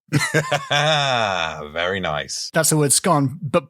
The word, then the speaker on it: Scone: That's the word scone, but pronounced so it sounds the same as it's gone.